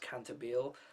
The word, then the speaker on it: Cantabile: it'll always be called that but apparently it's pronounced cantabile um yeah this is a series that's kind